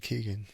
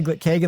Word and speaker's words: Kegan: I was saying Keegan. It happens all the time, man. It's Ke Kagan like a keg of beers. like a cake of beer.